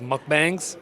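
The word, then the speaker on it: 먹방: I do what's called mukbangs. uh properly pronounced as mukbang.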